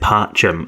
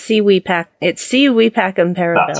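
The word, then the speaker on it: Si vis pacem para bellum: Civis Pacem Parabellum. Oh, is it Parchum? Okay, cool. No, it's Civi Pacem Parabellum.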